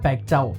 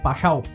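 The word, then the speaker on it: Paixão: ইংরেজিদের নামের বানান অনেকটা প্যাকচাও। তবে বাংলায় তাকে উচ্চারণ করা হয় পাসাও।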